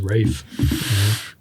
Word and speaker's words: Ralph: my words when you when you Google Ralph finds pronunciation that it says Rafe well okay R A